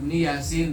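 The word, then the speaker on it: يس: Nah, ini Yasin yanya dua harakat. Kenapa dua harakat? Kategori rumus ya. Sinnya enam harakat kategori rumus alim.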